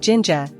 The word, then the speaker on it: 진짜: The JJ in jinja is a tense, double J sound, like a strong J in jazz, not a soft J.